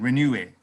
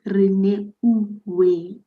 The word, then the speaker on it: Rene: Renue. Are you happy with my pronunciation? No, it's Rene.